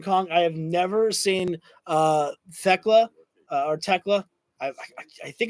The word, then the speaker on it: Thekla: I have never seen Thekla or Tekla. I think it's Tekla inside. I think it's Tekla is how you pronounce it.